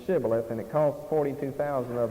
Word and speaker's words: Shibboleth: So they said Sibboleth, and they couldn't frame to pronounce the word Shibboleth, and it cost 42,000 of them their lives.